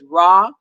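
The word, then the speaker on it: Rohr: is father richard i'm probably pronouncing his name his last name wrong but it's raw r-o-h-r and he wrote this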